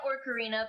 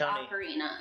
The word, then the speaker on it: ocarina: No, I said Orcarina because he brainwashed me into thinking that's the right way of saying it until I told him it's ocarina.